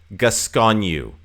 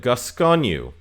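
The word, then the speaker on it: Gascogne: the list number six I believe this is pronounced gasconu because there's a French city that has the same name and I'm pretty sure it's the same but gasconu so if you go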